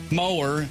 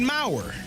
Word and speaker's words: mower: I automatically went to Brock Bowers. Yes. B-O-W-E-R-S. And so I called it Mauer.